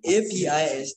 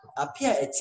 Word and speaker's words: Apiate: I'll pronounce it Apiate. Apiate.